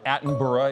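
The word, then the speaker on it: Attenborough: That is Ava David Adenburg. I think I can take that as a reasonable pronunciation judge. Yep. Uh Atenburgh is the usual pronunciation, but that's essentially phonetic.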